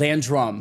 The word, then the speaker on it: Landrum: Landrum. Landrum. Is that not what I said? No, that was mine. You had that accent on the first part.